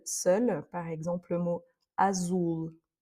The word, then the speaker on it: azul: par exemple le mot azul, vous entendez Azul, c'est pas azul, c'est pas le c'est ou Azulou. C'est pas il est vraiment plus haut, plus dans le nez.